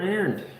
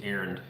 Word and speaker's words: Arend: When I moved to Canada, it's usually being pronounced as Arend. There is a D on the end of it. Some people say it, some people don't.